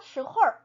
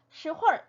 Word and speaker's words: 什么时候: 발음 제가 한글로 적어놓은 거 한번 보실까요? 스호올 이렇게 써놨어요. 스호올. 네, 이 스는 동굴 소리를 그냥 이렇게 발음을 해놓은 거죠. 우리나라에 없는 음가여서 그냥 스라고 해놨지만 시, 네, 동굴 소리죠. 권설음. 자, 그 다음에 호우, H-O-U, 호우인데 제가 호올 이렇게 써놨어요. 네, 얼자가 붙어 있지 않지만 이건 역시도 얼화시켜서 발음을 많이 해줘요. 그래서 시홀, 시홀 이렇게 소리를 냅니다.